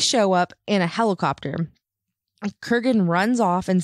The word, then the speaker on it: Kurgan: And is it Kurgan or Crugen? The Kurgan. Oh, so I've been saying it wrong the whole time.